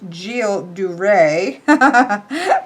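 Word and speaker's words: Gilles de Rais: gu's dras uh oh it says pronounce j duray okay this was in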